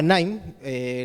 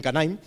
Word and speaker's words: KNIME: La herramienta se llama Nime, la K suele ser muda, ¿de acuerdo?, aunque algunas personas lo pronuncien Canime.